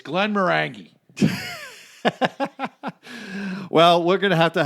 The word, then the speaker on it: Glenmorangie: one of my favorites I believe it's Glenmorangie is the way you pronounce it right but you're a--you're a